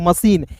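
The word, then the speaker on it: machine: तो यहां पे देखिए सीएच का तो च होता है लेकिन यहां पे सी एच का श के रूप में उच्चारण करेंगे। मशीन।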